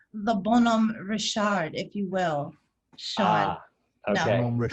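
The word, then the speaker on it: Bonhomme Richard: do you want to correct sean it's the bonum richard if you will sean okay actually if you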